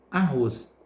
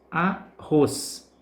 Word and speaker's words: arroz: intensidade Observe os exemplos arroz arroz percebe que ros é a Seda que pronunciamos com mais força com mais intensidade Cipó Cipó portanto é